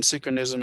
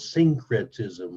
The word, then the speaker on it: syncretism: faith in Jesus, again, synchronism is a violation of the first commandment. It is a sin. Ah, interesting. So, Wow. but by the way, the it's hard to pronounce. It's called syncretism.